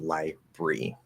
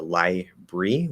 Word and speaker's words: library: so there's sort of from library to library to library that would be sort of the range of pronunciation for that word um that last one